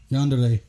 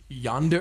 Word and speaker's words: yandere: How'd you pronounce that word? Yeah. Yander? Yandere. Yonder?